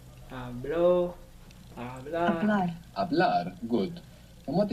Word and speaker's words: hablar: It begins with a silent H. Hablar. Hablo. Hablar.